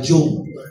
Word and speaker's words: Jung: Carl Jung. Pero it is pronounced as Carl Jung.